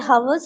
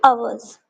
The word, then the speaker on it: hours: You should not say hours. You have to say hours. Height is silent.